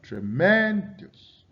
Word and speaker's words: tremendous: The syllable li is stressed. You have tremendous, tremendous.